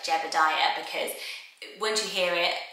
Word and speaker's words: Jebediah: So it's one of those biblical names, Jebediah. I prefer it Jebediah, and I must have known somebody who pronounced it Jebediah, because I always say it that way, but I think biblically it's Jebediah.